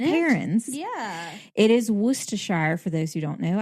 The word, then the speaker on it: Worcestershire: It is Worcestershire, for those who don't know. I've heard some people mispronounce it.